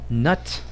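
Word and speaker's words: Knut: on on reuters about nut and it's spelled k-n-u-t it's it's a it's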